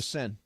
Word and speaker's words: Seine: The river in France that's spelled S-E-I-N-E. How is the that Seine. pronounced? The Seine. The Seine.